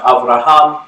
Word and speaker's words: Avraham: Abraham is pronounced Avraham in Hebrew.